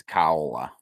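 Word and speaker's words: Kaolla Su: Is that how you pronounce her name? Kaola? It's Kaola. Kaola.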